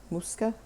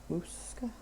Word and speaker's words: Moussaka: I don't even remember how she pronounced it. Moussaka? Moussaka.